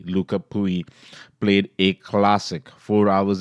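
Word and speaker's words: Lucas Pouille: Nadal and Luca pooey they have finally gotten the Frenchman's pronunciation correctly luca pooey played a classic four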